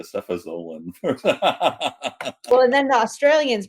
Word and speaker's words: cefazolin: For me, it's like, well, it's a cephalosporin, so it's got to be a cefazolin.